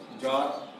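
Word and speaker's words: czar: इसके बाद अगला है सी के बाद जेड आए तो सी साइलेंट हो जाएगा। अगर आपका सी के बाद जेड आए तो सी साइलेंट हो जाए। जैसे जॉर जो एक राजसारी होता है, सीजेड नाम सुने होंगे, सी जेड ए आर, सी जेड ए आर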